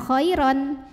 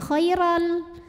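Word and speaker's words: خَيْرًا: lam maka cara membacanya tanwinnya ini tidak lagi dibaca m bukan Khoiron melainkan dileburkan atau dimasukkan ke lam jadi Khairan dan tidak perlu kita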